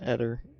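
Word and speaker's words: Aether: Yeah, light fire is also Acer. Or Esser. Or Eder. It's not dark. Alright, dark okay. Chicklings we don't have because that's not yet a thing. Yeah, Eder. Because it rhymes with redder.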